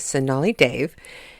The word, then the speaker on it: Sonali Dev: ago and I was probably pronouncing her name wrong in the last show but her name is sonali Dave and she wrote the